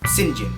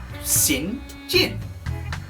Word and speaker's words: St. John: But she is saved by a man called St. John Rivers. St. John, of course, being spelled like this. Come on, you know that says St. John, right? St. John. Obvious.